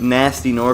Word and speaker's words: Gnasty Gnorc: like this guy named nasty nor for this fellow that GE so it kind of gets me Bastien or like it spelled like ignored oh looks like a